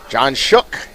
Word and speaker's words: John Shook: John Shook. At least that's how everybody up here has kind of decided they're going to pronounce it.